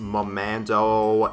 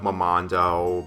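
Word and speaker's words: Mermando: a moment's life and I know I mispronounced momando instead of momondo but then again considering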